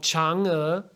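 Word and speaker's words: Chang'e: moon who's that well this person is called changa and she is a legendary character and when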